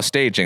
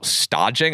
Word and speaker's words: stage: of a dodging program it's spelled like staging so I'm like oh staging and then I listen to that podcast oh stagging I never would have guessed that uh okay so for